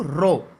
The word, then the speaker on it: rho: किया जाएगा वो है R is equal to रो L/A।